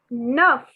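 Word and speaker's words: neuf: sang see said wait the word for nine is nuff nuff nuff so i know it's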